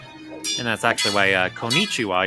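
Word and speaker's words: konnichiwa: that's actually why uh konichiwa you're supposed to pause on that n Sound for a bit because it's a double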